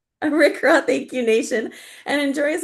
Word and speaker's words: Arikara: I'm sorry, Alisha, can you confirm that pronunciation? I always mess up that third word. Arikara. Arikara, thank you, Nation, and enjoys working and living in her ancestral homelands.